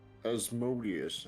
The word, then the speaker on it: Asmodeus: Asmodeus, that's the one.